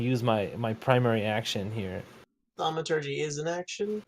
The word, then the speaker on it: Thaumaturgy: So my bonus action, I'd like to do Thaumaturgy. Isn't that how you pronounce it?